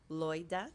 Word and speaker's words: Loida: wonderful celebration I am Loida Loida two syllables president of